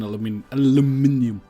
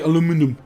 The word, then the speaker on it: aluminium: Yeah, I need steel and then aluminium. Also, when or you're like on the Americans say, aluminum.